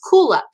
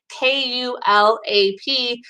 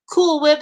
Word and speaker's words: Kulap: I actually one of my dogs, her name is Kulap, so it's Kulap. So sometimes people call her like Cool Whip, some people call her like Kulap, and it's like nope, it's Kulap, but it's okay.